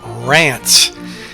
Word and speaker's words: Reims: Reims is actually pronounced Rance, but I'm going to be calling it Reims.